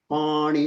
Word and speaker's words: pushpani: And everyone notice in the pushparni, that like the word pushpa, the sha is the retroflex sha. So it's like when we say Vishnu, Vishnu, or pushpa. It's not like pushpa. The tongue is going to go up slightly in making that sha sound.